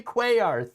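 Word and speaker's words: Cuellar: Yes, Henry Quayar. Thank you. Uh, not not quite how you spell it though.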